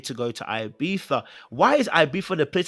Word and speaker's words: Ibiza: Okay, so I didn't know it was pronounced with a Z like that. I didn't know we pronounced Ibiza with a Z like Ibiza.